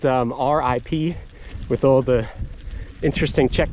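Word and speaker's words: Říp: This is it's called Rip. It's spelled R-I-P with all the interesting Czech characters on it, so it's not pronounced rip, it's pronounced Rip, or something close to that.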